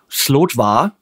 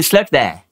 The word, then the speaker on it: Slötva: get really pissed okay it's not the slot bar no it's the sled there there slurt there say it with me slur slur there language lesson over it